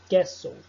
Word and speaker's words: castle: O T não possui uma regra geral, mas fica mudo nas seguintes palavras. Castle, Christmas, often, whistle.